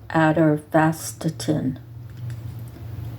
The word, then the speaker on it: atorvastatin: I can't pronounce it, it's ATOR, V like Victor, ASTATIN, atorvastatin.